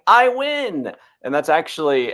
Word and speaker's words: Iwan: And she said, it's like you're winning. You say, I win. And so I would coach myself by saying, I win.